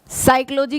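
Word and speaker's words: psychology: जैसे देखो साइकोलॉजी की स्पेलिंग लिखते हैं तो पी क्या होता है, साइलेंट होता है।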